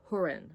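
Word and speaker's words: Húrin: Now, this one is by JRR Tolken and it's called The Children of Hurin. I think that's how you pronounce it. It's got a little accent on the U and it's edited by Christopher Tolken.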